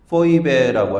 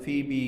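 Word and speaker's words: Phoebe: 베베 헬라어 발음으로는 포이베라고 할 수 있고 영어 발음은 피비 이렇게 발음을 하죠.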